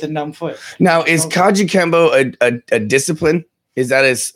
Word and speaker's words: Kajukenbo: been there not too easy words to say Kajukenbo Kajukenbo and that's the Hawaiian one yes it's only